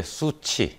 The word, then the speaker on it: SU7: 전기차 중국어로는 뭐라고 부릅니까 어 중국어로는 그냥 이제 수치 수치 예 이렇게 읽는 건데 이제 su 이제